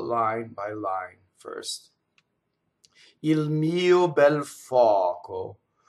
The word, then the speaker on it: mio: So pronouns, possessive pronouns tend to have the first vowel with the stress. A lot of times it's written as a one note or one syllable, and you actually have to have a grace note for the second, right?